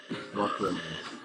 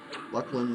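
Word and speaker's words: Luclin: there if you want of course that is the uh official pronunciation right uh we got to the bottom no more speculating luckin luckin luck um call it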